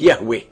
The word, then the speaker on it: Yahweh: himself as I am which in Hebrew is pronounced Yahweh and the almighty continues by saying that this